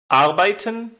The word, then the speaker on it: arbeiten: As a general rule, the first syllable is normally stressed, as in arbeiten, Deutschland, Name.